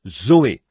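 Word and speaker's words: ζωή: on se sert du même mot que l'on prononce Zoé Z o e Zoé la vie et tous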